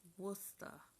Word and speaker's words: Worcester: oh I'm sorry Wooster it's pronounced Wooster all right Damien Wooster